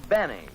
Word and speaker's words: Benny: doctor no this is Jack Benny rhymes with Penny if he can arrange